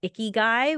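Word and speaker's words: ikigai: power of planning uh there's a Japanese philosophy called iy guy which is sounds really weird to anyone who speaks English it sounds like a dirty person but it's it's spelled I Ki G Ai and iy Guy means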